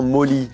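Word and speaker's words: MOLLE: quoi quelque chose enfin ça se prononce moli c'est des sangles qui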